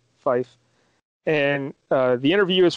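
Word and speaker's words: Fiffe: it's a fella m-i-c-h-e-l i'm guessing he pronounces it michelle fife and uh the interview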